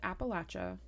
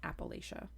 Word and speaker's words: Appalachia: who's mad right now it is pronounced Appalachia not Appalachia and I will die on that Hill I think it's kind